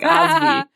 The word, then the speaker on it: Asvi: I have a friend named Ashvi, so I just called her Ashvi, which is not how it's spelled. It's like Asvi.